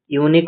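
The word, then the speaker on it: unique: This is ইউনিক opportunity to work with NASA. এখানে দেখো, ইউনিক শব্দটি যদি প্রনাউন্সিয়েশন করা যায়, তাহলে ওয়াই ডবল ও ইউ দিয়ে শুরু হচ্ছে, যা কি একটি কনসোনেন্ট সাউন্ড দিচ্ছে, তাই ইউনিকের আগে আর্টিকেল এ বসবে।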